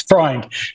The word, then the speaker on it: Freund: No, it's Freund. Just like Sigmund Freud, but you add an N.